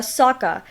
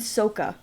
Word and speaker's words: Sokka: it was not fun can we also talk about how they ended up completely mispronouncing the characters names like eng and uh saka you know like they were probably like one of the main characters and apparently like you know uh in the movie they go by ong and soka for some reason yep like why what's